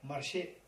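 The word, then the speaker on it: Marshay: The first one, Marshe. Marshe. M-A-R-S-H-A-Y. Marshe. Marshe. First step. Marshe means remembering all beings as one's mothers. If you know the Tibetan, it's very easy. Marshe. Just 2 syllables.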